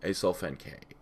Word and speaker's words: Acesulfame K: So, I mean, it's literally spelled Ace Sulfame K.